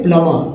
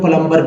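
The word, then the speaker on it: plumber: होता है ठीक है जैसे प्लमर प्लमर में जो है बी साइलेंट हो जाता है लेकिन यहां पर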